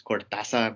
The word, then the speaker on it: Cortázar: I believe the right way to say his last name is Cortázar, but I might just say Cortázar. I'm sorry for being lazy, my tongue.